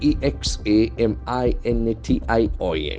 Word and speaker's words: examination: syllables it's very interesting e x a m i n a t i o n we check its pronunciation examination examination that's examination examinations there are five serpents and accent falls on the initial examination beautiful examination examination